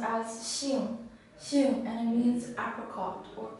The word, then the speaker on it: 杏: This character is pronounced as Xing, and it means apricot or plum.